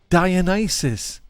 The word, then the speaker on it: Dionysus: Dionysus. Noibios. I said it earlier, Stu. Dionysus.